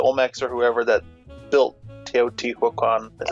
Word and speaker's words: Teotihuacan: Whichever civilization it was, the Olmecs or whoever that built Teotihuacan, is that how you say it?